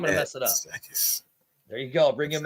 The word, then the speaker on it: Matsakis: Matsakis.